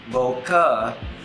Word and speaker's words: bokeh: Bokeh or bokeh, whichever way you like to pronounce it.